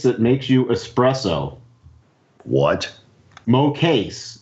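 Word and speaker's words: Mokase: Mo case.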